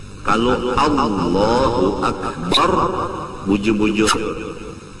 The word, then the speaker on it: Akbar: Kalau Allahu Akbar bujur-bujur, jangan membaca A menjadi Ain, Akbar dibaca Ain seperti Allahu Akbar. Kalau ya anak menuruti Arab Allahu Akbar, itu hamzah dibaca dengan Ain, maka hukumnya kada sah takbirnya.